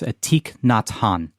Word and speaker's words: Thich Nhat Hanh: and I apologize, but it's something akin to Thich Nhat Hanh. I can help with that one. That's Thich Nhat Hanh.